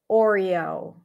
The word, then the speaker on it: Oreo: The reason why this is not an O sound, first of all, because it's a diphthong, it's an R vowel. Oreo, Oreo. That would be how you would pronounce it with the O as in go.